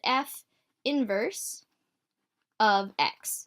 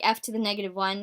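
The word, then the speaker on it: f⁻¹(x): name there and again you pronounce it F inverse of X okay don't say like f to the negative 1 because that implies that you're raising your function to the negative 1 power which is not what's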